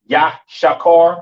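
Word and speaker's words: יששכר: Yashakar is how you pronounce it in the Hebrew. All right. Yashakar.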